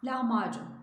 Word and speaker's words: lahmacun: şeylerden örnek vermek istedim lahmacun doğrusu lahmacun ince söylemiş lahmacun değil bu Türkçe deniz Kaplan diksiyon hataları arasında yine bu bu harflerin inceltilmesi ince okunması gereken harflerin icat